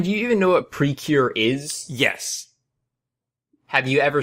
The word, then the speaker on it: Precure: Precure. It's just pre and cure.